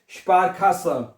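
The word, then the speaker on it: Sparkasse: Okay, आगे स्पारखास, क्या बनेगा, स्पारखास, ठीक है, स्पारखासे, स्पारखासे, स्पारखासे। के को खा पढ़ना है, के को का नहीं पढ़ना, के नहीं पढ़ना है, इसको खा पढ़ना है।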